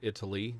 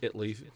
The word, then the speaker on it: Italy: one where there's Italy Texas and it is pronounced Italy not Italy even though it's how it's spelled it's Italy you know um but you you certainly like